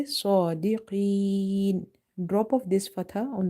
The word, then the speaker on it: صادقين: And in the word sadiqeen, sod is heavy because it's from the heavy letters, musta'aliya letters.